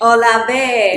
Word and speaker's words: Olave: Olave. Olave.